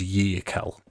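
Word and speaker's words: Yearkal: leader their um sort of spiritual leader is yel which is spelled ye e a r k a l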